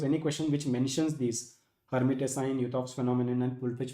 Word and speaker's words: Lhermitte: The first ancillary symptom is Lhermitte's sign. L is silent.